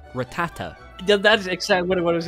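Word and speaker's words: Rattata: The thing is, in Spanish, it's just ratata. Yeah, I always call it ratata.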